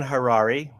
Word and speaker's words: Harrari: And my name is Harrari. Rhymes with Ferrari.